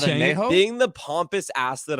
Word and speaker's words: añejo: Can I, speaking of Bacanora, the one that Anejo, can you pronounce that for me, please? It's Anejo. Oh, J, sorry. Anejo.